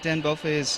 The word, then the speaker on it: Dan Belfay: Dan Belfay is how you pronounce it.